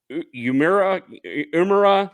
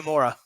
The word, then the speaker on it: Uemura: Yeah, taking on Yuya Umura. Like, how do you pronounce that last name? Yuya Uemura.